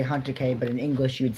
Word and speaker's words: Hatake: It in Japanese you say hunter K but in English you'd say field.